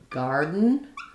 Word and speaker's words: garden: So to hear the difference in garden, I don't let that D out either, but my vowel is a little longer. So scratch what I said before. I wouldn't use a flap there. I would just use an unreleased D.